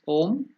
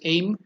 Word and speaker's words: Om: in again repeating that om we all know I'm because in other countries we are writing a I am you may wrongly pronounce it as aim that's why I have written it as I am I elongated DGA so that it becomes I'm or aing or I'm okay Om I'm wherever